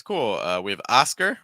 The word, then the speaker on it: Oscar: cool uh we have Oscar with a oscar osar aound at the start it's not o o it's more a very open Carl finished with a